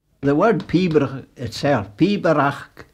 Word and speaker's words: Pibroch: The word Pibroch itself, Pibroch, three syllables, is garlic for piping, any piping, not just the kiln mow.